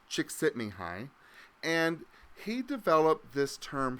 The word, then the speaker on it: Csikszentmihalyi: from what I've been told numerous times it's pronounced chick sitting hi and he developed this term flow if you're a psychology major you've probably heard of Csikszentmihalyi he's a psychologist and researcher and he talks